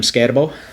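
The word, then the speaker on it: Skattebo: First up, we have Cam Scatabo.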